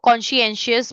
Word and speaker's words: conscientious: Conscientious बोलते हैं इसको. देखो कैसे प्रोनाउंस करेंगे. I'll tell you. Conscientious. दो टुकड़ों में डिवाइड करके इसको प्रोनाउंस करेंगे. ठीक. Conscientious.